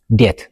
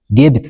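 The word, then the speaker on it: debt: بقدمي T ندحن موصيون B silent خون ويدما عين بابن عيد مسن مالتيو ኤግዛምፕል ዴት ዴቢት ዘይኾነስ ዴት ኢና ንብሎ ዴቶር ዴቶር ኖት ዴቢቶር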